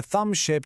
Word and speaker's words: thumb: Es una imagen un poco rara, lo sé, pero precisamente por eso funciona también para recordar que en climbing, thumb esa b final ni se oye.